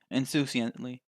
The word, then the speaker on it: insouciantly: Insouciantly. That is how you pronounce it.